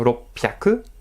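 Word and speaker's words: 六百: Attention, prononciation ropyaku.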